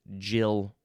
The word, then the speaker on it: gill: The fifth form of this word is pronounced jill.